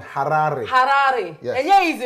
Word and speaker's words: Harare: You have to say it like the Zimbabwean, Harare.